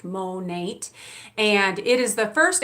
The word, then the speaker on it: Monat: so first of all Monat stands for modern nature that's why it's pronounced Monat and it is the